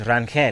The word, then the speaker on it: Rangel: doing good man hey so so the proper pronunciation is ranquel let's see yes there you go baby there